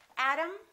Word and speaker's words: atom: And remember, T between two vowels sounds exactly like the D.